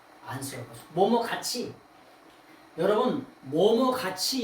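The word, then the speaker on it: ἄνθρωπος: 요거를 뭐냐 안스로포스라고 읽어요. 사람을. 안스로포스.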